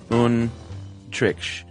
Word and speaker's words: Antriksh: And he says, you pronounce it Untriksh. The T is soft, though, as in math.